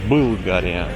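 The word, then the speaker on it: България: А болгары говорят Былгария. Пишется после буквы Б твердый знак.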